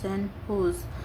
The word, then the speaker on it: San Jose: Recently, the San Jose, pronounced San Jose State University, of which they were former students, honored them and installed the statue in the university campus.